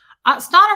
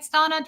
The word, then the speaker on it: Stana: Stana rhymes with Donna.